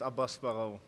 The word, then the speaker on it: Abass Baraou: Adam Booth and ABASS BARAOU. Have I pronounced that correctly? Yes, ABASS BARAOU.